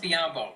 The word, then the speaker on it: Biyombo: They lost Biyombo. Yeah. Rhymes with Mateo, not a big deal still.